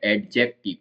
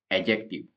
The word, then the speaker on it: adjective: हालांकि पढ़ा ये जाता है एडजेक्टिव, क्योंकि इसमें डी है, इसको एडजेक्टिव ऐसे पढ़ा जाता है, पर रियल में इसका जो प्रोनाउंसिएशन है वो है एडजेक्टिव।